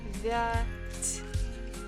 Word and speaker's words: девять: Девять. Stress falls on first syllable. Девять. Девять. Again, ya is not stressed. This is again, we pronounce it as E.